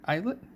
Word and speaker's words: Islet: Is that how you pronounce that? Islet? Like a silent S, like island?